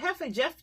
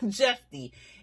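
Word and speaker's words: Jephte: Was it Hefe? Jeffy? That's how you say his name. I'm sorry. Jeffy.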